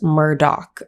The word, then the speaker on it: Murdaugh: it is spelt murdoch but it is correctly pronounced murdoch so that's the first one and the father